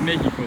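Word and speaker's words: México: the antepenult it um it ends in a vowel so it should be stressed on the p note so because it's breaking that rule we know that there's a written accent on the a of mexico the first syllable um what else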